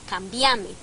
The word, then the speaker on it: cambiame: En el paradigma tuteante es una palabra esdrújula, es cámbiame. Sí, claro. Pero en el voceante, en el caso nuestro, es grave, terminada en vocal, no lleva tilde, o sea, cambiame.